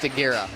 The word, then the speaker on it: Stagira: glad that yes yes stagira is the uh the birthplace of Aristotle also pronounced sagira so uh you know